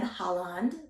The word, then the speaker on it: Haaland: Secretary of the Interior, Deb Haaland, which I believe that's how you say her